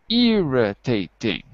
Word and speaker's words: irritating: Irritating. 4 syllables.